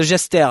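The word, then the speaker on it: Jestaire: st à ir eux c'est une sorte de francisation si j'ose dire du mode gester j e steer en anglais qui veut dire un bouffon ou pitre voilà donc gester c'est son pseudo et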